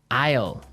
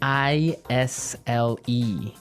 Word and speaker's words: isle: our second word now isle is a i s l e Isle Isle it's a tricky word it sounds like the contraction of I will yeah but it's spelled